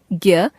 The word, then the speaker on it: ज्ञ: हिंदी में इसका उच्चारण ज्ञ ग जमा य के रूप में होने लगा है।